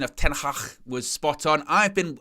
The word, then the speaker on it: Ten Hag: pick up everyone well done Owen notice your pronunciation of tenhach was spot on I've been I've been working